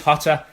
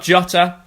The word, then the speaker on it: Jota: it definitely is hotter it's not jata or jota or yatta or yatta you pronounce it with the h out so they do it in Spain I've spoken to my sources over there it is hotter 100% and get to